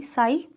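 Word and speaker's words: psi: के लिए डिफरेंशियल हैं लेकिन पी साइलेंट होता है यह है पी एस आई बोलते हैं पीएस आई साई और यह क्या है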